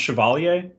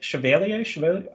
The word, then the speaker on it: Chevalier: how to say it I think French people say it differently but I I think it's pronounced Chevalier but they say the